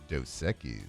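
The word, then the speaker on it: Dos Equis: And let's get to a little Ask the Bench brought to you by Doseekis.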